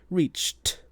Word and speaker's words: reached: So, if it has that ch sound at the end, then it will have a voiceless t sound with the ed like reach becomes reached.